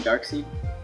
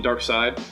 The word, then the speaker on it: Darkseid: I mean II mean dark sea you mean Darkseid go go away with your pronouncing things weird anyway okay go yeah